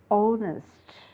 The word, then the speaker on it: honest: pronounce it as harnessed h is silent we should pronounce it as honest h is silent okay see here h